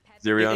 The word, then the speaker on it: Zerion: Zerion. Just Zerion. ignore the GDH at the end. He just goes by Zerion.